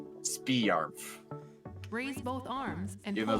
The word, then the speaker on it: Sparmf: But I intentionally made it to sound Bring really, yourself really back pronounced slowly. like Spiarmf.